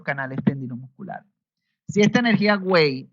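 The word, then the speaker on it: 卫: Energía Wei. Wei significa energía defensiva. Energía Wei, en algunos libros se encuentra escrito como Oe, y se pronuncia Wei.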